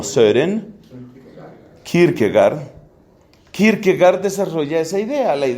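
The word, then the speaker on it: Søren: llamado sobre en que se pronuncia como ser en kierkegaard kirkegaard desarrolla esa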